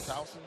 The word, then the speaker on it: Towson: Taylor Towson. Am I pronouncing the name right? Towson, yep.